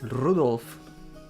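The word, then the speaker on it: Rudolf: just country again anyway this guy name is pronounced Rudolph he must hate grandfather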